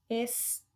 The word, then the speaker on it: estrela: Na letra A, que não é o es, e sim tre, tá bom?